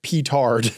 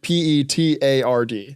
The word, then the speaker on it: petard: sayings like that but what is a patar patard i I think might be like petard no it's petard like p e t a r d ah petard okay well yeah I like the